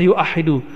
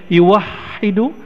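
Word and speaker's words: يُوَحِّدُ: satu atau Ahada yuah tapi enggak ada orang baca yuahidu tetap bacanya yuwahidu tauhidan kalimat itu dalam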